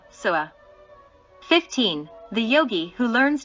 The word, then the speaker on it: SWA: The mantra SWA is pronounced as follows: Suawahahaha, Sua.